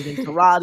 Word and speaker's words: Tyrod: I think Wednesday uh it was with Tyrod Taylor. Terrod Taylor, however you you say. Terrod is how it is pronounced according to Baker Mayfield.